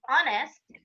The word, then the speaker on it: honest: And when we have the H, that is a consonant, but it is silent, as in our or as in honest, we say an hour, an honest man.